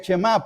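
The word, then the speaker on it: Shemá: ¿Por qué le llaman el chemá? Porque la palabra oye, el verbo oye, se pronuncia chemá.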